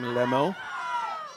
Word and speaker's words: Lhamo: So Alexia pronounces her last name Lemo. We would say Lamar.